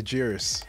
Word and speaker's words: Jairus: story ladies and gentlemen without further ado mr jeerus what's going on brother how you doing